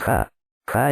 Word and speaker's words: Yah: presencia su nombre es ja ja es pronunciado ya como en Aleluya en el lenguaje hebreo